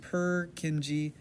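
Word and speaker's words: Purkinje: Perkingi pronounced perkingi fibers.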